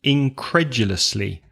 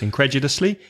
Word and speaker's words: incredulously: nearby okay nearby and incredulously stress the second syllable now that's a long word for five syllables incredulously incredulously stressed a second incredulously